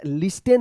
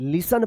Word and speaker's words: listen: इसको क्या, लिस्टेन मत पढ़िएगा, LISTEN, लिसन पढ़ते हैं, टी यहां पे जो है ना साइलेंट रहता है.